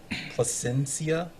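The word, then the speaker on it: Plasencia: Placencia. Yep, that's right. Placencia.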